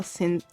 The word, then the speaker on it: synesthesia: Since I was born, I've had a condition doctors call synesthesia. I cannot pronounce it.